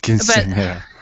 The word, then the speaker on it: quinceañera: And the last part, you have to put a lot of the it's because in English you don't have the ñ.